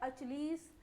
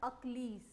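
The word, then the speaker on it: Achilles: तो पहला इडियम आप सभी की स्क्रीन पर है, क्या पढ़ेंगे हम इसको, लिखा है अचलीस, कुछ लोग कुछ और पढ़ेंगे बट इसका करेक्ट प्रोनाउंसिएशन होता है अक्लीज, है ना।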